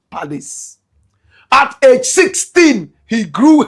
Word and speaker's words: Palace: Nigerians will say Palace. Correct pronunciation, Palace.